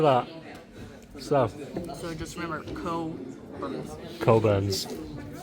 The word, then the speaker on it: Cockburn's: I think it's because I've never seen it advertised that it's pronounced coburns. Yeah. Not the other way.